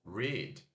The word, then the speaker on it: read: Se escreve R-E-A-D, né? Como se fosse read. Mas se pronuncia o som do R, aquele puxado, o I longo, ó. I longo, porque a gente sorri e segura, né? I. E o som de D. Read.